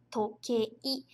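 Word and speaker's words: とけい: Só que quando a gente fala, isso aí a gente seria mais uma parte mesmo de pronúncia. Tokei. Esse i aqui no final, ele fica como se fosse um prolongamento. Então fica toque, toque, tokei. Mas quando a gente escreve, a gente precisa colocar o i.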